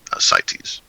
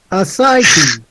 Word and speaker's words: Ascites: Ascites. Accent on the second syllable. Ascites.